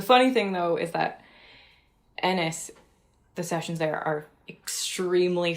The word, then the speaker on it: Ennis: Ennis? It's like Dennis. Take away the D.